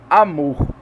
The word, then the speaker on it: amor: Amor, tá? O A, quando a gente fala um pouco mais baixinho, e o mor a gente fala um pouco mais alto, tá?